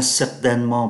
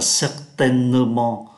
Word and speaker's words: certainement: Certainement là chắc chắn và người ta không có phát âm ký tự ơ ở giữa. Thay vì phát âm là certainement, chúng ta đọc nhanh là certainement.